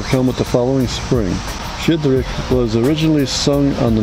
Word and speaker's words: Щедрик: How do you pronounce this, by the way? Shchedryk.